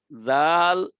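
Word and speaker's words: ذ: জাল বাতাস ছাড়া, আর সা বাতাস সহ। জাল পড়ার সময় বাতাস লাগবে না, আর সা পড়ার সময় বাতাস লাগবে। আল, আস, মাখরাজ দিয়ে বাতাস বের হবে তাহলে সা, আর মাখরাজ দিয়ে বাতাস না বের হইলে জাল।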